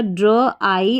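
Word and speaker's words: drive: DR को ड्रॉ पढ़ेंगे, आई पढ़ेंगे इस आई को, क्योंकि लास्ट में ई है वी के बाद में, तो आई हो गया, ड्र आई। और VE को व पढ़ेंगे, लास्ट में VE को व पढ़ेंगे, क्योंकि वी को तो व पढ़ा जा रहा है, लास्ट में ई साइलेंट है।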